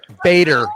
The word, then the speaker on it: Bader: And for that whole side of the aisle who idolizes Ruth Gator Ginsburg, we all know who that is, right? I mispronounced her last name. Whatever. Ruth Bader Ginsburg.